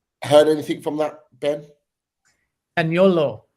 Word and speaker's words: Zaniolo: signing Roma forward Nicolo Zaniolo. If I'm pronouncing that right, I apologise. The Roma player. Heard anything from that, Ben? Zaniolo is the correct pronunciation, and I actually used